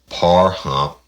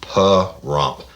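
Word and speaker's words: Pahrump: Rouge Louisiana currently living in par hump P hump p rump it's spelled p a h r u m p and she put it in the parentheses it's p - rump per rump Nevada I might have to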